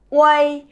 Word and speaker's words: uei: Thế tuy nhiên một số bạn khi mà mới học ấy, bỏ chữ E đi quên mất sẽ đọc nó luôn là ui. Thì cái cách đọc này là chưa chính xác. Chúng mình nhớ nhá, UEI bỏ E đi tôi vẫn phải đọc là way.